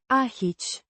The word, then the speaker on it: aici: Means here, pronounced Aici. with stress on the first syllable.